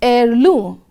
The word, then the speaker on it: heirloom: the word highlighted there the letter h is silent in pronunciation we pronounce it as heirloom again this word is